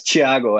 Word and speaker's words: Thiago: Yeah, it's Thiago actually, but I know my name is difficult to pronounce. Thiago.